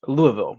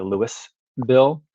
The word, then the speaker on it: Louisville: I was amazed to learn that in Kentucky, Louisville is pronounced Louisville, where you don't say like the Louis bill, but Versailles is pronounced Versailles.